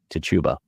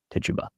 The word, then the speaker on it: Tituba: Reverend Paris's own slave, a woman named Tituba, or Tituba, or Tituba. I've heard it pronounced all three ways, and there seems to be no rhyme or reason whatsoever. I will call her Tituba.